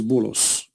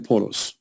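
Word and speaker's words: بولس: If you go to the interpretation, you will see that this is Bulos, which is the way of Muslims, they say and pronounce the name of Paul. In Arabic, we call him Polos.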